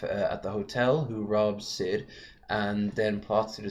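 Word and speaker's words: Syd: with the help of, I can't pronounce that name, Snide, S-Y-D. Sid.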